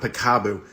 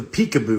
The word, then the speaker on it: peekaboo: a cure or anything oh not picabo it's the peekaboo virus the peekaboo virus yeah